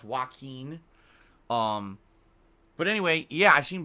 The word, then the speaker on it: Joaquin: I always forget that it's pronounced Joaquin.